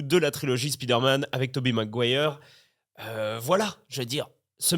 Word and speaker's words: Tobey Maguire: C'est EY, ça se prononce E en fait. C'est pas Tobey? Si, c'est ça, mais ça c'est à l'américaine. Bah, par exemple, on dit la marque Obey.